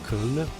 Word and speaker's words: Köln: Maybe the right pronunciation in German should be Köln.